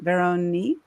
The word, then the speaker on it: Veronique: complimentary strategy session with go to please pronounce it for me veronique.